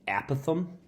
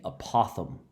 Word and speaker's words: apothem: interesting words in math people pronounce this a lot of different ways a lot of people like to call it the a Pithom but actually it's called the apothem this is the apothem